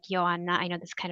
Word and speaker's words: Johanna: It's spelled like Joanna, but it is pronounced like Joanna.